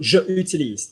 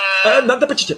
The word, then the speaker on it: J'utilise: You're saying je utilise. Is that correct? To keep them separate. Susie, how do you say I have? How do you say I live? J'habite. How do you say I use? J'utilise. J'utilise. Good job. Say for me, I use this money for coffee. J'utilise. Not je n'utilise.